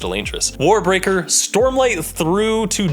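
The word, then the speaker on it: Elantris: It's pronounced Elantress, War Breaker, Stormlight Through to Dawnshard, White Sand, Misborn series 1, and Wax and Wayne through Bands of Morning.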